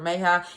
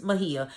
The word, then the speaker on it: Mejia: Mejia and I've been actually let me tell you guys I've been pronouncing his name wrong and I'm so sorry because I kept saying his name was dr. May hi it's Mejia sorry so you know